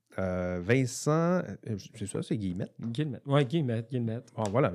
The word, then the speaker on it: Guillemette: Alors aujourd'hui, nous recevons dans mon petit studio Vincent Guillemette. Vincent, c'est ça, c'est Guillemette? Guillemette. Ouais, Guillemette, Guillemette. Bon, voilà, je vais le prononcer comme ça, si tu permets, Allons-y.